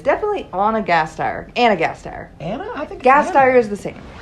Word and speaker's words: Gasteyer: It's definitely Anna Gasteyer.